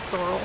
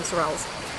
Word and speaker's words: Sorel: And I'm pretty sure Americans pronounce it Sorel, but anyway, we call them Sorels.